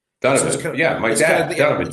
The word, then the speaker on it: Donovan: It's not It's not It's not um Donovan. It's We pronounce it Donovan. Donovan. Yeah, my dad's Donovan. D- D-U-N. Yes, it's the Irish way of pronouncing it.